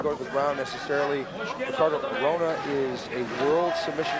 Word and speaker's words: Ricardo: Sometimes you're going to hear Basin say Ricardo. Sometimes I will say Hicardo. In Brazil, they pronounce the uh words that begin with an R with an H sound.